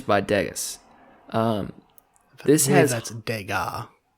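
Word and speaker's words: Degas: deas um this that's dega deaz dega no s you don't pronounce the S Thea it's that that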